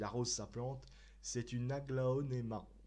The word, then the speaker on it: aglaonema: C'est une aglaonema. Aglaonema qu'on prononce en latin agleonema.